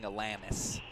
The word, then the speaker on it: Alanis: I always get criticized for my Michigan accent, afraid of saying Alanis. But that is how it's said.